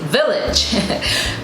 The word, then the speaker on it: village: And village is spelled V-I-L-L-A-G-E. Now in English, we would say village, but in French, it is pronounced as village.